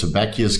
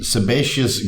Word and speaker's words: sebaceous: on the right track here so sometimes I mispronounce it as seacus glands which is of course completely incorrect so I'll drink to that guys it is the sebaceous glands sebaceous all good which form um the